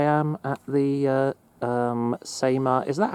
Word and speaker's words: CEMA: So, here I am at the uh um Seema. Is that how it's actually pronounced? Seema, yeah.